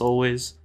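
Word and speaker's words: Alvvays: Inspirations for this album were Steve Lacy porches always it's 2vs but it's pronounced always and Australian bands such as morning TV all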